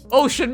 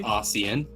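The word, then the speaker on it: Osian: Ossian, Ocean, man. Ocean man. Yeah. The worst part is we didn't even do that together, but we both know. It's pronounced Ossian.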